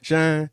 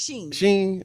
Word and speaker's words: Shein: used by Temu and how you say it, Shein or Shine? I always Shine. Sheen. It's Sheen. Sheen.